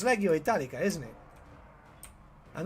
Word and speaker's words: Legio Italica: I always mispronounce that. Yeah, it's Legio Italica, isn't it?